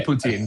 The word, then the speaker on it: poutine: How do you say it? Put pin. Pin. Okay. Putin. I probably killed that. I probably It's okay. Say poutine. Poutine's fine.